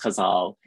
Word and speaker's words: ghazal: The ghazal also has different pronunciations. So I learned the ghazal from Agha Shahad Ali, and he insisted that one had to say it ghazal, but I've also spoken to Arabic speakers who say that it is pronounced ghazal in Arabic. So depending on where your ghazal comes from, you can say it in different ways.